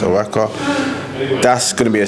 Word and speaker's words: Oaxaca: Oaxaca, I think it's pronounced Oaxaca.